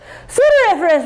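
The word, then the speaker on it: sudoriferous: pseudoeriferous sweat is odoriferous sudariferous rhymes with odoriferous you can remember that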